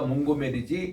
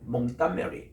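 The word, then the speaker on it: Montgomery: 이런 거며 몽고메리라는 것은 우리가 몽고메리지 이 사람들은 몽따메리 이렇게 발음해요.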